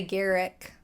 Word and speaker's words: Garrick: okay edward garrick garrick i would say garrick derek because you would pronounce like the name garrett or gareth with that same pronunciation oh okay excuse me